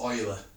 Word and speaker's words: Euler: layer art or ela we pronounce it oil rather than you so it's Euler or Euler's number anyway